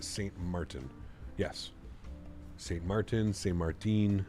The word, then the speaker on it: Sint Maarten: to be weird but since Martin is sort of pronounced Saint Martin yes Saint Martin Saint